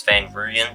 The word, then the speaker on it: Van Rooyen: I'm going to assume it's Van Rooyen because of the Roo chants that go up, but